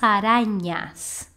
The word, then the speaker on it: arañas: Tengo fobia a las arañas. A pronúncia dessa letra, que em espanhol a gente chama de N, é como o NH, sim, do português. Então, seria arañas. Tengo fobia a las arañas.